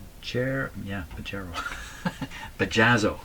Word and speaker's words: Bajazzo: right bajer yeah bajro bajazzo it's bajazzo with two Zeds here that's what it is